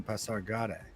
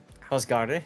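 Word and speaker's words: Pasargadae: Yes, the wormy style is quite popular in Pasargada. I think I pronounced that way wrong, but Pasargade? Okay. Pasargada, yeah, okay. No, it's Pasargade.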